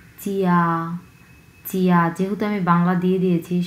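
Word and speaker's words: 家: ফিনিনটা আমরা হচ্ছে উচ্চারণ করব চিয়া চিয়া।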